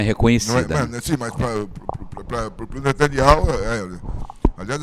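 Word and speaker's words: Netanyahu: Sim, mas pro netanial, aliás, as pessoas falam netaniar, né? E eu fico até meio assim encabulado de falar o nome certo. O nome dele é Netanial. Esse H não deve ser pronunciado.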